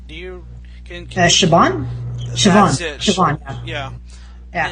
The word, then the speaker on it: Siobhan: Siobhan yeah yeah it's it has a B in the name but it it really I mean it's pronounces the way I've heard it pronounce it Siobhan with a V and not not a B I mean now now